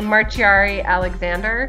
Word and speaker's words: Marciari-Alexander: So you can pretty much say whatever you'd like, but I usually say Marciari-Alexander.